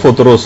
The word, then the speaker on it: فطرس: فطرس کا، فطرس۔ اچھا، اس کو الگ الگ طریقوں سے لوگ پکارتے ہیں، لیکن اصل میں اس کا جو تلفظ ہے وہ فطرس ہے۔ اچھا، اس فرشتے کا